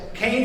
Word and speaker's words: Kean: Right in the back there for other people who don't know Kane University. There's a sign right back here. It says Kane is pronounced C A N E.